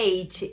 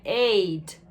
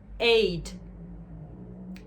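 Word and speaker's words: eight: Já o número 8, o 8, muitas pessoas têm essa mania de forçar o T, paulista principalmente, tio, tia, e no inglês não existe isso, pelo contrário, eles mal pronunciam T.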